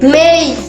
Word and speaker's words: May: তারপরে মের সঠিক উচ্চারণ কি হবে? মে মাসের মেই, মেই।